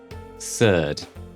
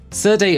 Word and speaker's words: Serde: A CSV to JSON converter using Serde Si Surd. Serday of no agreed pronunciation is short for serialized deserialize.